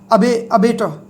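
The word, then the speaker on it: abattoir: अच्छा, इसी के साथ साथ आप जब भी इस अबेटर को याद करें, ये इसका सेम सा प्रोनाउंस होने वाला वर्ड, इसको जरूर देख लेना, कसाई खाना। अबेटर, इसको भी यही बोलेंगे।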